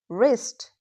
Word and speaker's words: wrist: If a word starts with WR, don't pronounce W. Just ignore it completely.